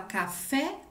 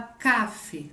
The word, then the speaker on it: café: exemplo a gente fala café ou fala cafe um cafe a gente fala café né então a gente sabe que a sílaba mais forte é fé ok então a gente